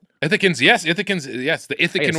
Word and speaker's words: Ithacans: Ithacans.